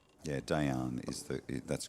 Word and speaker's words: Dejan: Actually, Dejan is the correct pronunciation for the question in the in the uh in the chat. Yeah, Dejan is the That's correct.